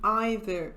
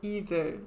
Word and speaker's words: either: Aqui nesse vídeo eu vou falar sobre a diferença entre whether e either ou either. As duas pronúncias são possíveis.